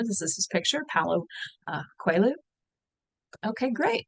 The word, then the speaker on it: Coelho: And my colleague Miguel works in the office next door to me, and I asked him how to pronounce this, and he said it was Coelho.